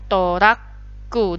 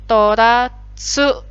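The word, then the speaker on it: トラック: Sekali lagi kalau besar bunyinya beda. Jadinya toratsuku. Jadi ini bunyi apa adanya, tsu. Tapi kalau ukurannya kecil jadi mendobelkan konsonan setelahnya.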